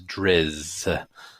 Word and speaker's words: Drizzt: I've always said it Drizzt with a slight T sound at the end, but I think, in the audiobooks and according to R.A. Salvatore, it is Drizzt without so much of the T.